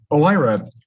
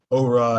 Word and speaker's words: OIRA: all uh so uh olyra uh and paige is correct that's how you that's how you say it i i heard all sorts of things on the hill like aura and oira and all that sort